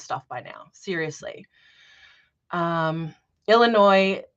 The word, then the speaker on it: Illinois: by now seriously um Illinois the S is silent did I do that